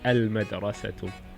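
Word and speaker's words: المدرسة: So madrasatun is a moon letter, means school, and we introduce the definite article is al-madrasatu.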